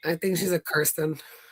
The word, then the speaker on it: Kirsten: I think she's a Kirsten.